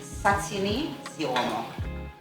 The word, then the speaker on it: satini ziomo: The right way to say it is satini ziomo.